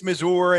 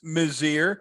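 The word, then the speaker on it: Mizeur: had heather mazzier on i remind folks it is mozir we asked her nestor was great he said please pronounce it she said i know people think it's mazor and ms it's mazir and she's going to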